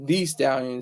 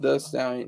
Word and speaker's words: Thee Stallion: Megan, and she doesn't like to say Thee Stallion. It's just The Stallion, even though it's spelled with 2 E's.